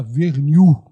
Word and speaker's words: Vernil: No meu nome, a pronúncia na família era Vernil. Vernil. Seria o correto aqui. Seria, digamos assim, um sotaque bem francês.